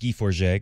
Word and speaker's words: Guy Forget: you guy because that's what his name looks like if you see it written. But it's pronounced Guy Forget because it's very French.